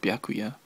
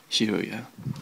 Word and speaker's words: Byakuya: kind of found out the actual name for the Kingdom is called byakuya and not shirya oh well because there's